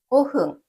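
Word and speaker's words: 五分: 그리고 숫자 5 뒤에 분을 흥이라고 읽어 주시면 됩니다. 다시 한번 읽어 볼까요? 오븐은 고흥 고흥입니다.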